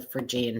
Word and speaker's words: Phrygian: PHR, not Phrygiana.